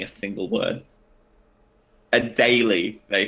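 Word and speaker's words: Adélie: long video for someone saying a single word a daily they said hello daily I did daily a daily I doubt that I seriously doubted a daily I see I always does is there a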